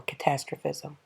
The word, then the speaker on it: catastrophism: difference between uniformitarianism and catastrophism or catastrophism you'll hear it pronounced both ways so we're going to